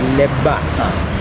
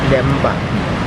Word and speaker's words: Lemba: So also another word, Lemba, heart. So in the West they may be pronouncing it as Lebba, but we are pronouncing it as Lemba.